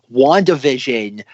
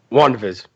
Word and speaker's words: WandaVision: Imagine if Marvel released Avengers Endgame, WandaVision, Russ, what do you call it? You didn't pronounce it correctly. Okay, how am I supposed to pronounce it? WandaVision.